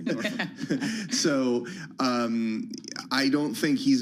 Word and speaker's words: Norfolk: Yeah, Norfolk. so he... Yeah. Pronounce it correctly, Norfolk.